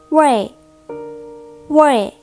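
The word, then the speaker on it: 味: ค่ะ ส่วน อีก คำนึง นะ คะ ก็ คือ เว้ย เว้ย คำ นี้ ก็ มี ความ หมาย แปล ว่า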